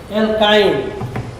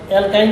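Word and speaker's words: alkyne: এরপরে আমরা আসি অ্যালকাইন। অ্যালকাইনে দেখো উচ্চারণ হলো আইন।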